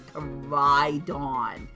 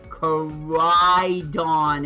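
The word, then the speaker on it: Koraidon: portion it's a kidon please say it right I know it's funny but it's coridon coridon it's not that hard to say cor appropriate portion of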